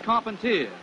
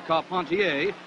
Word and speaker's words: Carpentier: Jack Dempsey advancing on George Carpentier, or Carpentier, if you prefer the French pronunciation.